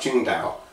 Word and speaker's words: Tsingtao: But most Americans call this Tsingtao. But I was at a Chinese restaurant in Kenner, Louisiana, and the lady was from China. She says, pronounced Tsingtao.